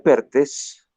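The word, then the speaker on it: Perthes: La enfermedad de Pertes se escribe T-H-E-S, Pertes.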